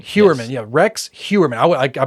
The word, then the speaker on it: Heuermann: Heuermann. Heuermann, Yes. yeah. Rex Heuermann. I mispronounced his name the first few times I